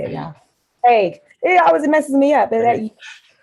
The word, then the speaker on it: Hague: Hague.